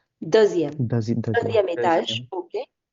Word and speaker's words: deuxième: Douzième, non. Douzième is 12th. Deuxième.